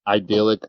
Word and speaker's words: idyllic: Thousands evacuated from idyllic islands after 300 earthquakes in just 48 hours. I think that's how you say it. Idyllic. Idyllic. Idyllic. Idyllic. It is pronounced idyllic.